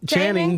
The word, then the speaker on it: Channing: This is the Shanny Jackme show, and I have a special guest, Captain Channing. Is that the right way to say it? Yeah, it's that Channing, but yeah, Channing.